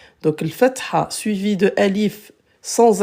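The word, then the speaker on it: ألف: Alif, alif. Alif, après ça dépend des... Dans certains pays, ils le prononcent elif, mais en arabe, alif.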